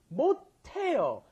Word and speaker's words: 못해요: Now, notice that pronunciation may sound a little strange. You've got 못, which has an S at the bottom, followed by the H, 하다. Why does it come out te? 못해요.